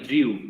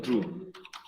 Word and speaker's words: drew: Algunos lo pronuncian como si fuera una I, Drew. Y no es Drew, es Drew.